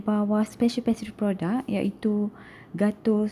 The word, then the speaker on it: Gâteau: Untuk pronunciation yang betul, boleh dengar pronunciation Google telah saya sediakan di sini. Gâteau.